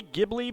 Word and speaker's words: Ghibli: way uh should be Ghibli because um the G is always hard in Japanese although you can look